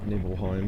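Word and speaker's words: Nibelheim: Yeah, I think I always said Nibbleheim and it turns out that is the correct way to say it.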